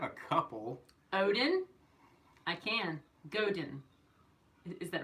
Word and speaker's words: Godin: I think it's Godan. I think it's Godan. But Two syllables like that? With a soft with a stressed syllable. it has a softer sound on it because it's like French game.